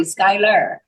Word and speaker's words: Skyler: E because I wanted it to be be pronounced properly Skyler and my under after my email it says